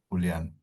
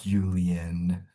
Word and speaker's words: Julian: So, the way you actually pronounce my name is Julian. There you go. Julian.